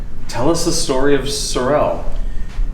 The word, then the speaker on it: Sorel: us the story of Sorel so am I saying it right first of all that's a good question and I will get back to that okay it is called suell and I will I'll